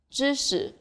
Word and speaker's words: 知识: When it comes after A, C, Ch, R, S, Sh, or Zh sound, it's more like a short E sound, as in lip. 知识, 40.